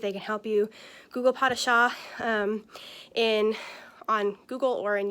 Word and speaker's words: pas de chat: friend see if they can help you google pot of shaw in on google or in youtube and see